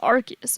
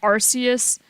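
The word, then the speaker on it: Arceus: stuff a fun fact people say Pokemon AR is wrong and when the official it says archus and people usually say arus I say archus and I've always said archus yeah in the official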